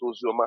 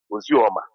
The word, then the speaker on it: Ozoma: And my own Ozoma has, that is how we pronounce Ozoma. Our own Ozoma is Ozioma. It's no more Ozioma. So if your own is Ozioma, you are an Igbo man, my own is Ozoma.